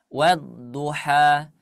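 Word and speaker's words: الضحى: Arrahman attawwab wadduha wadduha Nah wadduha itu jangan terlalu dipanjangin ya Nah ini mungkin karena sering membacanya seperti itu jadi terpanjang wadduha He tapi dua harakat saja wadduha wallaili idza saja ulangi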